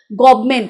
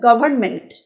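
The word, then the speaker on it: government: মানে হচ্ছে গভান থেকে এসেছে গভর্নমেন্ট আমরা বলি গভমেন্ট যেটাকে বলি গভমেন্ট তো সঠিক উচ্চারণ না সঠিক উচ্চারণ হচ্ছে গভর্নমেন্ট সে গভর্নমেন্ট হচ্ছে নাউন আর তার ভার্ব হচ্ছে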